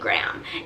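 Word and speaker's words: Graeme: Not even that his name is Graham, but it's spelled G-R-A-E-M-E. I would think that it's Graham until she called him Graham Cracker Collins. That's the only way I knew it was Graham.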